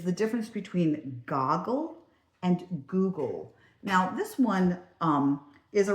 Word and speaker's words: Google: Goo and then you have that that syllable break right there. Goo-gle.